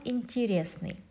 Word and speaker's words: интересный: There is a written е, интересный, but we pronounce интересный.